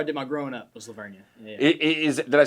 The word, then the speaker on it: La Vernia: I don't know if I necessarily Is it Leveria? That's right. Yeah, that's where I was. That's where I did my growing up was Leveria.